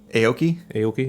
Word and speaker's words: Aoki: Aoki, is that how you say it?